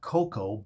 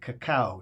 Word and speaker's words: cacao: we're talking about not cocoa but caca C aao caca it's pronounced like cha-ching Kaka cha-ching well basically you